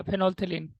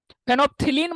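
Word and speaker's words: phenolphthalein: फेनोप्थिलीन मत पढ़ दीजिएगा, वो पीएच प्रोनाउंस नहीं करते हैं, ये एल होता है वैसे यहाँ पे। फेनोल्थिलीन होता है वो, पीएच मत पढ़िएगा।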